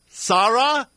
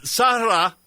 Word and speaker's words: Sahra: Sara I believe that's SAR is that did I get that correct yes you did thank you sah pronouncing it it's actually sah sah I I Saha that's Senate District 55 the dfl candidate